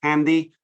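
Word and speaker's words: Canddi: In our business, we use some technology called Candy. It's spelled C-A-N-D-D-I.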